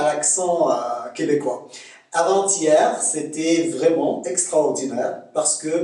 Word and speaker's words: avant-hier: Première différence, avant-hier. Là, il y a un T, il faut prononcer avant-si. Le T, c'est TS. D'accord? Ça, c'est la première des choses. Avant-hier.